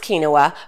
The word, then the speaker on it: quinoa: many monikers okay he taught me how to pronounce kinoa but more importantly how to cook it so